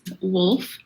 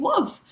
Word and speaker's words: Wolf: So I really try to like pronounce the L like wolf, but sometimes when I say it, Dennis is like, "Did you say wolf?"